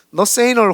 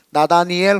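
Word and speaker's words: Nathaniel: 주홍글 씨라고 했던 그 유명한 너세이널 호손, 영어 발음이고요. 한국 발음으로는 나다니엘 호손입니다. 네. 너세니엘, 이게 자꾸 이게 제가 발음이 잘 안 좋으니까 네, 이래 이해해 주세요.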